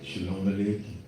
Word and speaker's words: Shalom Aleichem: And with that said, we say unto you, Shalom Aleichem, Shalom Aleichem.